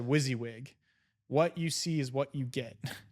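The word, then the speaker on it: WYSIWYG: a great lesson to learn is he said wizzywig what you see is what you get wyz WS like wizzywig is what it's spelled out what you see is what you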